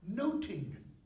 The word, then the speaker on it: nothing: my lord of nothing in Shakespeare's day the word nothing spelled this way was pronounced like this noting okay so the word